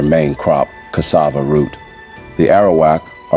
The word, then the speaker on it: Arawak: Their name pronounced air Awak refers to their main crop cassava root. The Arawak are a group of indigenous peoples of northern South America and of the Caribbean.